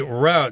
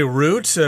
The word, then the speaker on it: route: takes you somewhere exactly the route some people say root both pronunciations are acceptable you might be asked